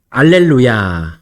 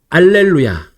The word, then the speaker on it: 알렐루야: 이 히브리어 할렐루야가 이제 그리스어로 바뀌면서 첫 번째 글자 H가 이 H 발음, 이것이 탈락된 단어가 알렐루야입니다.